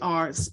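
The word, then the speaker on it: כפר: It's spelled kaper, but it's pronounced kaper, and that's in the Old Testament Hebrew.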